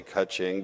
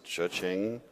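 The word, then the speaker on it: Chuxing: I always want to say Kaching, but I know it's Chuching, the Chinese company.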